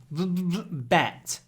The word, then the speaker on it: bat: of your top teeth bat B but bat bat try to pull your top lip over your teeth bat B bat B